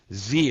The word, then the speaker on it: Xe: They also claim that Blackwater, now called XE Services, Z it's pronounced, ran drugs and intentionally deceived the U.S.